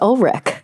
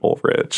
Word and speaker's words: Ulrich: me but pronounces it old Rich yeah and I'm like that's incorrect my way is objectively correct it is German I love it awesome